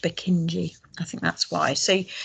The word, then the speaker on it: Purkinje: them and i think his name was spelt k-y-n-e but it was pronounced bukinji i think that's why